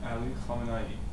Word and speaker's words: Ali Khamenei: picture next to the missile say it again ali khamenei very nice you can pronounce it right version yes most people butcher